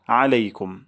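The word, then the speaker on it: عليكم: আসসালামু শান্তি বর্ষিত হোক আলাইকুম আইন গলার মাঝখান থেকে উচ্চারণ করব আলাইকুম বলবো না আলাইকুম বলবো আলাইকুম আলাইকুম আপনাদের উপর আলাইকুম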